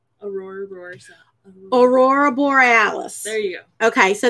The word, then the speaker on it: aurora borealis: as how do you say it correctly aurora aurora borealis there you go okay so that or oral